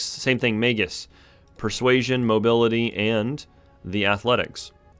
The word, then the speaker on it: Magus: All right, I just Googled it and it's Magus.